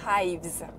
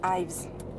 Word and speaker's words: Ives: Ensuite, les autres calmystères qui commencent le 1er octobre, il y a un calmystère sur Vanessa Ives, pas Ives, Ives, parce que ça s'écrit I-V-E-S, qui est le personnage principal de la série Penny Dreadful, que j'adore.